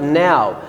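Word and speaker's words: gnaw: After tusk we have now, and the G letter here is silent.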